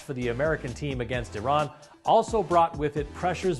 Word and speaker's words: Iran: the Iranian people but you're pronouncing a country's name wrong our country is named Iran not Iran please once and for all let's get this